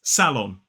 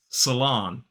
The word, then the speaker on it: salon: In a modern British RP accent, this is salon. 2 syllables, the stress is on the first, salon. Whereas in American pronunciation, it is salon. 2 syllables, but this time the stress is on the second syllable. So there is a different stress syllable in British and American English. And notice that in the first syllable, American pronunciation used the schwa, and in the second syllable, it's that long ah, salon.